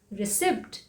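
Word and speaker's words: receipt: में क्या कहते हैं रिसिप्ट नो इसे क्या कहते हैं रिसिप्ट इसे हम अक्सर क्या बोलते हैं रिसिप्ट क्योंकि इसमें पी है लेकिन इसमें पीस साइलेंट है इसे इसलिए क्या बोलते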